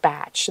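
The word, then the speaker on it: bach: know as flip-flops a batch but it's spelled b-a-c-h but it's pronounced batch this was completely new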